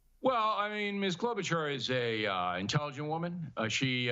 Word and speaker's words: Klobuchar: I mean, I've never heard of the Minnesota Senator Amy Klobuchar. I'm not even sure how you pronounce it.